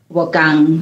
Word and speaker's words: Bokang: Bokang. Like the K, it has to be, yeah. So it's hard.